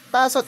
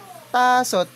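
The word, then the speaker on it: 다섯: So letter T daw yan kapagka nasa initial. Like for example tasot. Tasot is five. Tasot.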